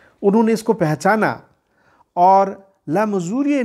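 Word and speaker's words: Le Mesurier: सबसे पहले 1856 में एक रेलवे इंजीनियर ले मजूरिये, स्पेलिंग या फ्रेंच नाम है LEMESURIER, लेकिन इसका उच्चारण होता है ले मजूरिये।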